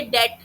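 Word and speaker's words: debt: डेट। डेट में B silent हो गया। काफ।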